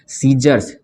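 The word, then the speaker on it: scissors: ये देखिए यहाँ पे है सीजर्स, सीजर्स मतलब क्या होता है? कैंची। तो सीजर्स, इसमें सी साइलेंट हो जाता है, तो इसको क्या पढ़ते हैं हम लोग?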